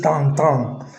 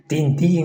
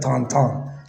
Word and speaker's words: Tintin: and culture okay so his name is Tang Tong okay well many people probably pronounce tinting or something but it's like Tonton right downtown so that's it a